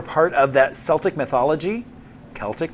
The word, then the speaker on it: Celtic: Celtic mythology, not Celtics. that's a basketball team.